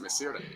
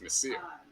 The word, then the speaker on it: Messier: Like that's why it's not Messier. It's Messier. You don't pronounce the E.